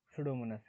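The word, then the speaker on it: Pseudomonas: सुडोमोनस है ना, P silent है यहाँ पे, एक्स्ट्रा इसको बाद में पढ़ेंगे ठीक है।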